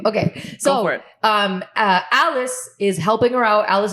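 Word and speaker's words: Alis: it is because I read it as Ali's. You know you're desi when you. Guys, it's spelled A-L-I-S. Ali's. Like multiple Ali's.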